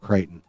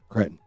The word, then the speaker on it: Cretton: I wish people would quit saying it Crichton. It's not even spelled Crichton. It's spelled and pronounced Cretton.